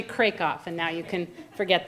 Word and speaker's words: Krakoff: only one who has mispronounced my last name for years it's actually Craig off and now you can